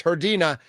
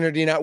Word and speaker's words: Herdina: Make sure you pronounce it correctly. It's Herdina. Austin Herdina with the Potawatomi Sportsbook.